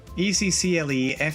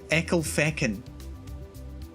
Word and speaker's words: Ecclefechan: How do you think you pronounce this? It's here anyway. It's Ecclefechan. Ecclefechan. Ecclefechan.